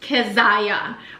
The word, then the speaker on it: Keziah: It's actually biblical, it's actually Hebrew, and it's pronounced Keziah.